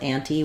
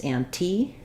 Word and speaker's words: ante: if we just have a ante by itself ante we're going to ante into the pot for example um it's anti um when we come to a ant anti